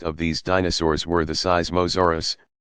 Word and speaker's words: Seismosaurus: these dinosaurs were the seismosaurus pronounced sy Zima Soros and supersaurus the seismos